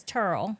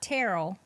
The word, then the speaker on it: Turl: And then my dad's name is Turl. It's not Terrell, it's Turl. Turl.